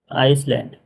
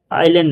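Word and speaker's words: Iceland: आइसलैंड। आइलैंड नहीं आइलैंड नहीं है यह आइसलैंड है।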